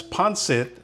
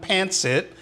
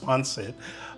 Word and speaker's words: pancit: are going to be preparing ponit beon that's ponit not pansit I hear a lot of you out there saying pansit but it's pronounced panit this is a dish that can be enjoyed